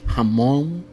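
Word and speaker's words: jamón: American people to pronounce letter J sounds like an H Howa which is cage hamon which is him haa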